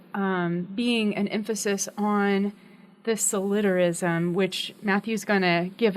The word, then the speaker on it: solidarism: It's solidarism is how you pronounce it, I believe. We've come to. It's based on the word solidarity.